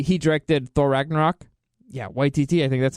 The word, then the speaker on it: Taika Waititi: name well he he directed thor ragnarok yeah whitey T I think that's how you say his name anyway so supposedly he's going to be the director for it but then that makes it even Taika Waititi there you go that makes it even more